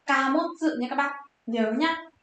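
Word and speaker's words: 貨物: Hàng hóa chúng ta sẽ đọc là Kamotsu nha các bác.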